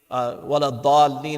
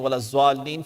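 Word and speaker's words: وَلَا الضَّالِّينَ: Maybe I've been struggling with saying wala dhalleen. I've been saying wala zwalleen, for instance.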